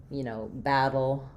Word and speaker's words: battle: We have, battle, middle, etc. So the TT and DD in the middle of words are most frequently pronounced as flap sounds versus a true D or a true T sound.